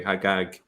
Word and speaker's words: Al-Hajjaj: Hagag is the Jewish version of that, and it's still pronounced that way, Hagag, in some Arab countries, such as Egypt.